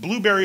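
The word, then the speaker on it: Blubrry: And Blueberry is spelled without any of the E's. So B-L-U-B-R-R-Y.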